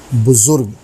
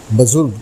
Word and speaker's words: بزرگ: کر حاضر ہوا ہے، اور آج کا لفظ ہے بزرگ، جو درست ہے۔ عام طور سے بزرگ بھی کہا جاتا ہے، جو غلط ہے۔ اس کے معنی